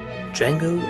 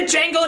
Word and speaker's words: Django: bum tonight's review D Jango Unchained oh my God this is the greatest